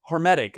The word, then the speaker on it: hormetic: How do you How do you spell that? Hormetic.